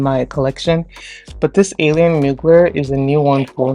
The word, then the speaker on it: Mugler: And this is the alien goddess from, is it Mugler? Yeah, that's how you pronounce it. It's Mugler.